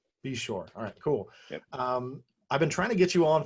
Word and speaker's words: Beshore: Brent how do you say your last name be sure be sure alright cool I've been trying to get you